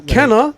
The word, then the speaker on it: Kenna: Kenna, the actual way you're supposed to say it, by the way, if anyone else is listening. Even Kenna herself mispronounced her name in the game.